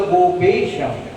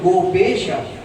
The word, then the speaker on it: গোপেশ: অথচ দেখুন কৃষ্ণের প্রণাম মন্ত্রের মধ্যে বলা হলো গোপেশা। আচার্য ব্যাখ্যা করছেন গোপেশা বলে না, হে কৃষ্ণ করুণা সিন্ধু দীন বন্ধু জগৎপতে গোপেশ গোপিকা কান্ত রাধা কান্ত নমস্তুতে।